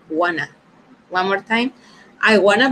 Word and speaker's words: wanna: But here, instead of saying, I want to, we're going to say, I wanna, okay? That is going to be the pronunciation, wanna.